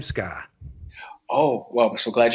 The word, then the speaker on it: Sky: They thought it was Scott. And so I was constantly saying, no, it's Sky.